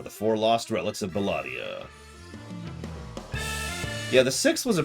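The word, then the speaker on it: Belah'dia: up believe it or not bella die uh bellatia excuse me keep saying it wrong was actually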